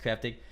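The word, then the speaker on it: Kraftig: cryptic light it is spelled KR aft IG pronounced cryptic they deliver whether it's like only the finest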